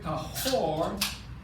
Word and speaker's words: tahor: And I'm going to give you the word just to spell it out. T-A-M-E-I, tamid, that is impure. T-A-M-E-I, T-A-M-E-I, that's impure. And the word tahor, T-A-H-O-R, means pure.